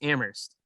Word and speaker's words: Amherst: say UMass Amherst, but you don't pronounce the H in it. It's just Amherst.